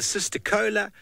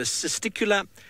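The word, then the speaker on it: cisticola: my phone the rattling sista Kula some people call it the sister Cola some people call it a sista Kula really however you'd like to and is rattling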